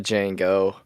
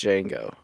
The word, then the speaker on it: Django: if you look at it, it looks like it says the Django, but the D is silent, so it's Django. Yeah, it's not the Django.